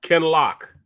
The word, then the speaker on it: Kinloch: good morning Mom can is it kinlock or look how do you say it can lock okay yeah yeah Kellogg